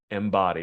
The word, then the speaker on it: Mbody: brand in the business he spells it m body yeah it's the letter m b o d y embody and so people say what is that body body I said just say the just say it like embodied and um that was